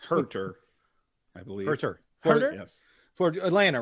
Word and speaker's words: Huerter: name right kevin huerter kevin how do you say his name well i'm a close hurter i believe yes for